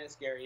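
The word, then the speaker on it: Enniskerry: Is that how you pronounce it? Yeah, Enniscarry.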